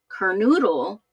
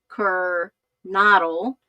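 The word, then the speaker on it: Kernodle: And Jeffrey Kirk Kernoodle, uh, sorry, I always say that name wrong. Jeffrey Kirk Kernado. A lot of people are It's not Noodle, it's Kernle.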